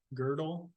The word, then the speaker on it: Gödel: And I thought this was really, really fun because I always thought the Gödels, is that how you pronounce it? Gödel?